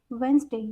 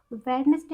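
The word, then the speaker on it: Wednesday: फिर आता है हमारा वेंसडे, यहाँ पे हमारा डी साइलेंट है। वेडनेसडे अगर आप बोलते हो तो गलत है, आज से ध्यान देना, वेंसडे होता है ये हमारा।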